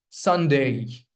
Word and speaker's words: Sunday: You put stress on the first syllable. Sunday.